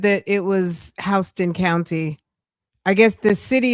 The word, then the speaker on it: Houston: Hston spelled like Houston. Hston.